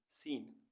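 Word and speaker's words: scene: ऐसे वर्ड्स जिनमें अल्फ़ाबेट सी साइलेंट रहता है। SCENT सेंट, सेंट मीन्स गंध। SCENCE सीन, सीन मीन्स दृश्य।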